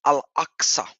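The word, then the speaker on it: Al-Aqsa: it is axa to to really pronounce it in the Arabic properly it's al axa is the second mosque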